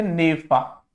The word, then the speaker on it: NEFA: और अरुणाचल, है ना, ये NEFA इसे बोलते थे नेफा, है ना, नॉर्थ ईस्ट फ्रंटियर एजेंसी, या इस तरीके का इसका प्रोनाउंसिएशन था।